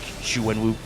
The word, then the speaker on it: Xu Wenwu: It's like Xu Wenwu, rhymes with Dr. Fu Manchu.